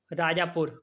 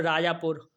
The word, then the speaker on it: राजापुर: राजापुर, capital राजापुर, राजापुरा, नहीं राजापुर, हाँ ए silent है।